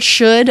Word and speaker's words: should: should i should i the d is a flap sound because it comes between two vowels or diphthongs the l is silent here so it comes between the schwa and the i diphthong so it's just should i should i the tongue